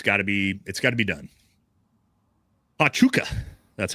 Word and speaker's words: Pachuca: Pachuca, that's how it's pronounced.